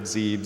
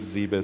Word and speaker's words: Zebes: Zebes is a base people pronounce in a bunch of different ways pretty sure it's zebus the other one there's how many are there I've heard Zebes zaebis service tons of different stuff were there yep so as